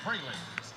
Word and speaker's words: Froelich: Correction. Pronunciation for the last name of the pitcher is Abby Froelich from Dutchtown High School.